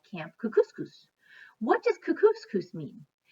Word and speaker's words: Kookooskoos: anyway welcome to camp cook couscous it rhymes with moose and that's another good